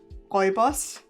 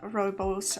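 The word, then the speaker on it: rooibos: oh okay okay so in german it's actually pronounced uh oibos so my brain did not did not translate that at all um it's pronounced roy balls uh and it's also known as african red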